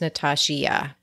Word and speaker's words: Natashia: It's just an I. It's a silent I that's in my name for your listeners to know what I mean by funny spelling. Yeah, like as if her name were pronounced Natashia.